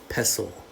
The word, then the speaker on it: pestle: and this is called a pestle with a silent tea pestle so together they are